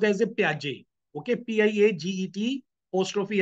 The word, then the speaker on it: Piaget: It is pronounced as a Piaget.